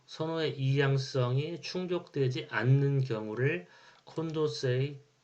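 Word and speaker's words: Condorcet: 이양성이 충족되지 않는 경우를 콘도세의 패러독스라고 불러요 또는 프랑스 발음으로 콩콩도르세의 패러독스 사회선원은 이처럼 intransity b의향적인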